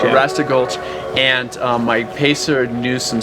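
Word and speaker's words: Arrastra Gulch: Arasta Gulch. Yeah. Arasta Gulch.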